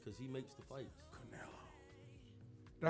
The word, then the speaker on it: Canelo: Canelo.